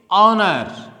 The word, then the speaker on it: honor: not pronounced, such as honor. Here letter H is unpronounced because we have pronounced it honor.